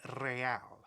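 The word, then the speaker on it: réal: You owe me 130 real. He pronounces the R with a mock aristocratic accent.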